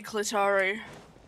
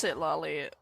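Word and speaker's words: Citlali: Okay, Clitari. Which is what I call it Clitari because it's what I mispronounced her name as the first time I saw her name.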